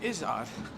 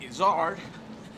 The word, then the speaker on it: Izzard: um but then i'm izard some people in america call me eddie izzard this is it's not the second syllable stress it's the first syllable stress it's um but then